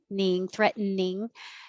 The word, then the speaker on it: threatening: week because it's weird you can say three syllables threat threatening you wouldn't say threat to ning the t is going to disappear no matter what but you can make